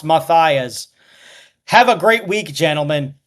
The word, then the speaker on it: Matias: PPS Gail Matias's surname is pronounced Matias.